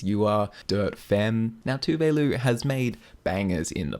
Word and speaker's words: Tove: Now, Tove has made bangers in the past.